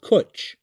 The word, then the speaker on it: Cwtch: The first major project of open privacy is a protocol and application for messaging called Kuch. That's spelled CWTCH.